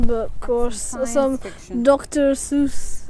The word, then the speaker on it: Seuss: um some fiction but of course some dr seuss it's actually pronounced dr zoice if you yeah that's true i mean look